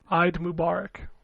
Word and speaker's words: Eid Mubarak: I thought it was Eid Mubarak, but I might be wrong. Correct. Okay. Eid Mubarak.